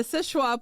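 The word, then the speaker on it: Seul Choix: it is no so it is called the sisha point lighthouse it is spelled s u l c h o iix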